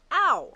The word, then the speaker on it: Au: it exactly um so your last name is actually pronounced ow correct so memorable for Ania